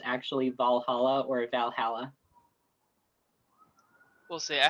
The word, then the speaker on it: Valhalla: going let you take I say Valhalla instead of valala yeah I don't it's Valhalla yeah that's what I say